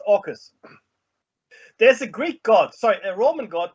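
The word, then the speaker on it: AUKUS: u k us but it's pronounced orcas there's a greek god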